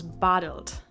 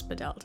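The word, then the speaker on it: Badelt: bedelt i'm pretty sure in german his name would be pronounced klaus bottled but everybody here calls him klaus bedelt so i'm just gonna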